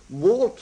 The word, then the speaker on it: Wart: Wart more or less rhymes with Art.